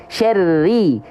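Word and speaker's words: شَرِّ: contohkan dengan pelafalan juga syarri syarri Syari jangan Syar R tapi Syari tipis oke sip ya kita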